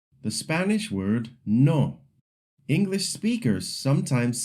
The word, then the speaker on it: no: The Spanish word no. English speakers sometimes say it like the English no with a dip thong. In Spanish it's short and clear.